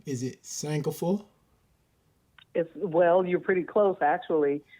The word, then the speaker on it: Sankofa: Is it Sankofa? Well, you're pretty close actually. The correct pronunciation is Sankofa, but here most people say Sankofa.